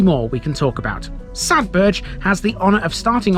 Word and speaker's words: Sadberge: Sadbur has the honor of starting off the entire county. Often mispronounced by non-locals, the name of this one